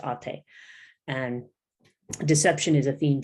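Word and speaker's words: Atë: It's spelled ate like eight, but it's got the diacritics over the letters, and it's pronounced ate.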